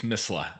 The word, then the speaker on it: Mesle: Nico Mesle, please let me know if I'm pronouncing your last name wrong. That was pretty good. It's Misla.